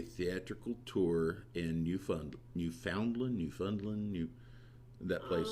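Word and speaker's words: Newfoundland: in Canada New Foundland mom used to pronounce it New Finland okay newfinland if it's good enough for my mother-in-law it's good enough for me she was the sweetest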